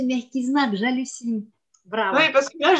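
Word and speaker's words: мягкий знак: Ah, mais qu'est-ce que tu as bien prononcé, Merkiznak, j'hallucine.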